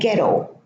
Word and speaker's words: ghetto: Another two words, ghost and ghetto. So in these two words, the silent H is preceded by a G. So after a G at the beginning of the word, the H is silent.